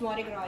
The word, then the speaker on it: Mardi Gras: Then how you pronounce it? It's Mardi Gras, yeah.